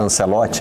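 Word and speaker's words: Ancelotti: Ela tá muito presente porque a gente decidiu falar Ancelote aqui, né? E tem muita gente estranhando. Eh, a questão da pronúncia é sempre eh uma tentativa de encontrar, né, uma sonoridade que respeite um pouquinho, né, o idioma original, mas também faça sentido para nós aqui.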